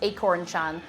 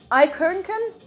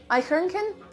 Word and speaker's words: Eichhörnchen: Yes, the first time I tried to say the German word for squirrel, I pronounced it as Acorn-chan, because that's how I read it.